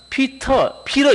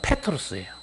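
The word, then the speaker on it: Πέτρος: 그래서 정확한 발음은 페트로스입니다. 우리가 부드럽게 번역해서 베드로 이렇게 번역했지만 영어에서는 피러 이렇게 발음하고 실제 헬라어 발음은 페트로스예요.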